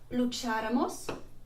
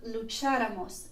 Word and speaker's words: lucháramos: And you can see that I've highlighted the third to last syllable because it has an accent above it. And so in the nosotros, nosotras form, we need to add that accent over the third last syllable to make the pronunciation correct.